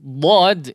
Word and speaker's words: ض: Nah, huruf dhad ya, sekali lagi tadi tepi lidah ya, salah satunya baik itu yang kiri ataupun yang kanan atau keduanya ya, boleh keduanya. Karena dalam pengucapan huruf dhad boleh menggunakan satu pinggiran ya, baik yang kiri ataupun yang kanan atau menggunakan kedua-duanya.